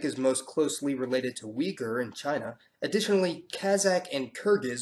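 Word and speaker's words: Uyghur: and weers yeah I know it looks like uger but it's pronounced weager well they're all an amalgamation of of Northeast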